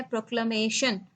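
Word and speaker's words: proclamation: सबसे पहला वर्ड आप अपनी स्क्रीन पे देख रहे हैं जिसकी प्रोनाउंसिएशन है प्रोक्लमेशन। प्रोक्लमेशन, ठीक है, जैसे होता है डेक्लमेशन, ठीक है, डेक्लरेशन, वैसे ये है प्रोक्लमेशन।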